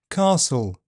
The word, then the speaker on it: castle: T is silent in words ending t L E. Castle, bustle, thistle.